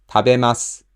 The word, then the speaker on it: 食べます: When nothing is attached to it, people generally omit the accent on ma. 食べます, 行きます, 読みます, 買います, 話します. People pronounce it just like a flat word, but when something is